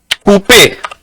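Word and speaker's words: poupée: बट वो क्योंकि एक्सो एग्यू है ना, एक्सो एग्यू की प्रोनाउंसिएशन होती है ए. ए. यस. So that's why वी से इट एज पूपे.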